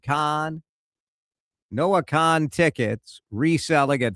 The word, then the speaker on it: Kahan: I like Noah Khan. It's spelled K A Han, pronounced Khan.